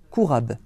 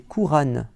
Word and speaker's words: Qur'an: virgule, puis il nous donne la phonétique pour prononcer le mot Coran en arabe, et ils mettent Q-U-R'-A-B, Kourab. Nous diront que c'est une coquille, une erreur orthographique. Normalement, c'est Qur'an, Qur'an, n'est-ce pas?